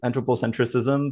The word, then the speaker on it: anthropocentricism: So today, the topic is anthropocentricism, which you can also pronounce anthropocentrism, so without the CI right here. So it's up to you. I say anthropocentricism because that's just the way I've always said it.